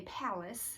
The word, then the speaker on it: Pallas: quick review on the pilas uh mm and um or if you're from texas you might say palace because it's like spelled like dallas but with a p but either way i'm